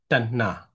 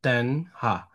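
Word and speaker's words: taṇhā: T and this both alphabet will have to pronounce the same. Yeah, Tanna. Yeah, Tanna, not Tanha.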